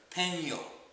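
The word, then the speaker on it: peño: o okay but now pronounce this whole thing pen as in the writing pen and then yo like hey yo what's up Peno okay the NY sound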